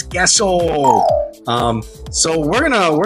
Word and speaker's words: queso: some cheese guys although his name is Caso uh but in Spanish it's gesso um so we're gonna